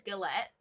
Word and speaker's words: galette: was correct and google told me it is galette but if i am for some reason pronouncing it wrong please let me know in